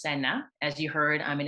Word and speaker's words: Senna: So my name is Senna, pronounced Senna.